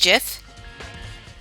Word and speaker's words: Jif: guy who created gifts I said it was actually pronounced jiff and then Jeff peanutbutter